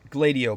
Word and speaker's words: Gladio: Well, Operation Gladio, by the way, that's its pronunciation.